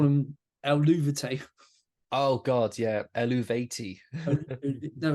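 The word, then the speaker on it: Eluveitie: And no, to her credit, she went, yeah, you take out the U, Eluvati. I swear I've heard members of that band pronounce it differently.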